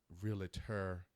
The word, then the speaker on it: realtor: She is my realtor Two syllables. special. Two syllables. Realtor. Realtor.